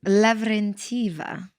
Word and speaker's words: Lavrentieva: And how do you pronounce the surname? Lavrentieva.